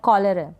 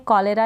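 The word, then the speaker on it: cholera: फिर ये है कॉलेरा, क्या है, कॉलेरा, यहाँ पर प्रोनाउंसिएशन देख लें आप, कॉलेरा भी इसको प्रोनाउंस कर देते हैं, कॉलेरा या कॉलेरा, दोनों प्रोनाउंसिएशन ठीक है, दोनों तरीके से प्रोनाउंस कर दिया जाता है।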